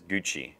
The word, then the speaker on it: Gucci: How far is Gucci? Is that right? Gucci? Yeah, Gucci.